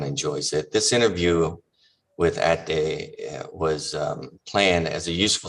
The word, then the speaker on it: Ahdi: Well, and if I have to pronounce it in Persian, it's Ahdi, but I'm Ahdi.